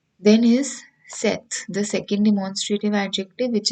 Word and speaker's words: cet: discussing before this so cet pronunciation is set this demonstrative adjective we